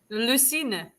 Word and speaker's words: Lucine: right now today we have a guest Lan with am I pronouncing your name correctly what I'm basing your name on what voice over pronounces it l try again Lo line Lucina Lucina ah okay Lucina I clo